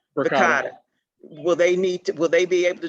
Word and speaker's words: Verkada: Are these, will we have to get T-Spec involved in this, or does Vicaria, I'm sorry, I can't pronounce, what's the pronunciation? Vicaria. Verkada.